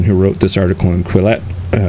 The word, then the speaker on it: Quillette: I was actually going to go back to the social justice thing because this article in Quillette, I want to pronounce it Quiet because it's French, but anyway, through the Looking Glass at Concordia University, and so many things like that.